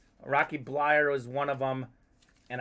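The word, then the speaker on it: Bleier: of these names rocky blyer is one of them and i had it written out phonetically but i must have forgotten and said blair it looks like blair but it's blyer ah a couple other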